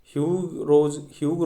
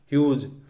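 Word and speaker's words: Hugh: वैसे तो ये प्रोनाउंस किया जाता है ह्यूग, बट आपको उसको ऐसे सोचना है कि ह्यूज।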